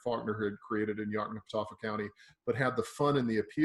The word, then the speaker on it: Yoknapatawpha: county that I could never in my life pronounce the name of that. What is it? Yoknapatawpha County.